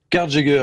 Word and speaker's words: Carjager: tout d'abord Prous présenteznous car Jager je l'ai bien prononcé ça va car Jager exactement à l'anglais c'est chasseur de voiture